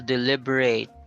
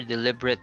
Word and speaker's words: deliberate: If used as a noun or an adjective, then use a schwa.